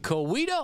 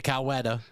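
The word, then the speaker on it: Coweta: But first, we lead things off locally here out of Kawita, Oklahoma. I'm glad you could pronounce that correctly. I was going to say Kawetta, but that's weird.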